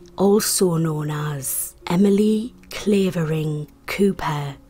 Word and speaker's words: Cowper: known as emily clavering cooper it's spelled cowpor and some people do pronounce it this way but most people pronounce it cooper she was born the